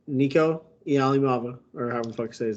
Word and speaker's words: Iamaleava: The SEC quarterbacks room looks like Nico Iamaleava, or however the fuck you say his name.